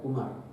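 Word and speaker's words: عمر: Kalau wawnya nggak ada, Umar.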